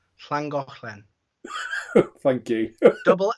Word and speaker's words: Llangollen: You pronounce it because I can't. Llangollen. Llangollen.